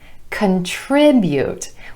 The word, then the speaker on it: contribute: Here's another example, contribute, contribute. We've got stress on the 2nd syllable, emphasizing the I vowel sound, contribute.